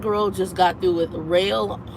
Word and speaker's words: Roehl: The other one is That Girl just got through with Rail, and it's spelled ROEHL, Rail.